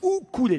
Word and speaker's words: ukulélé: de plus grave alors sachez qu'on ne dit pas un ukulélé comme vous l'avez beaucoup les uns ou couler les il faut pas prononcer le hip à de ukulélé mais où coulait laisser la prononciation hawaïenne qui est plus chic